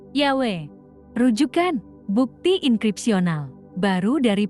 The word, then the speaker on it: Yahweh: berkata yawek tetragramaton Ibrani secara tradisional kalau sebab 2 ayat 8 diucapkan Joho vs sekarang diketahui diucapkan dengan benar Yahweh rujukan bukti enkripsinal baru